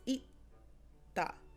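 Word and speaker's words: 있다: So for example, you wouldn't say itda. There's no air coming out after you say the T sound, right? It's itda, itda.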